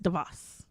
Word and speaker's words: DeVos: Moving on, Betsy DeVos. Is that how you pronounce it? Yes, DeVos.